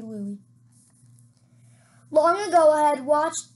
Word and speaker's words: Louis: Louie up if I if I said Louis I'm sorry for the Miss for the pronunciation mistake it should be Louie long ago I had